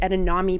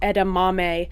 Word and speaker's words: edamame: hi can i get edanami please and they laughed in my face and told me that it's pronounced edamame and that i was an idiot because there's not an n anywhere in that word and so i was